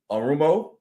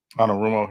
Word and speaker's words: Anarumo: Now, the next one, Sean, on the list is Bengals defensive coordinator Lou Arumo. I think I said it right. Lou Arumo. Anarumo, yep.